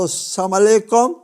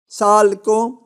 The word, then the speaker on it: السلام علیکم: تلفظ کہتے ہیں، گڈ مارننگ کہتے ہیں، صحیح تلفظ کرتے ہیں۔ یہ اسلام پر آتا ہے تو السلام علیکم، سالکم، والسلام۔ یہ ہے بدقسمتی ہماری، انتہائی بدقسمتی ہے